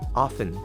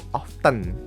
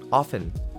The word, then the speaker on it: often: kalau kalian bacanya gimana yang benar adalah cara bacanya adalah often Kebanyakan orang mungkin bacanya tuh often pakai huruf t tapi ternyata t-nya itu tidak perlu dibacakan teman-teman jadi yang perlu